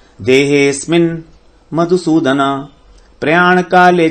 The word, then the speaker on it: देहेस्मिन्: अधियज्ञ कथम कोत्र देहेस्मिन्, देहे, हे को थोड़ा आगे लेंगे। देहेस्मिन्, देहेस्मिन्, देहे अस्मिन् नहीं कहेंगे। देहेस्मिन् मधुसूदन प्रयाण काले च कथम ज्ञेयोऽसि, ज्ञेयोऽसि नहीं कहेंगे।